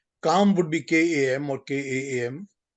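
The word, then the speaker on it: Kama: four words are dharm Earth sorry can you spell it for me dharam is Dharma d-h-a-r-m-a Earth is a r t h calm would be k-a-m or k-a-m and muksha would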